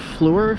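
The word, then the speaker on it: Fluor: i'm here outside of fleur field f-l-u-o-r i guess that's how you pronounce it the reason why i'm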